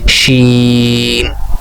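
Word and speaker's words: شين: একটু শক্ত করে হবে শিন।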